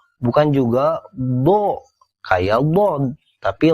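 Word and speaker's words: ظاء: titik di atasnya satu namanya do bunyinya mirip Dal dalal Zai dan Dod yakni kayak huruf d tapi ada unsur znya do d perhatikan saat dikasih si vokal a dia jangan dibaca Da Kayak Dal jangan D kayak dalal Jangan Za kayak Z tapi do cenderung Do tapi bukan do atau Do tapi do bukan juga do kayak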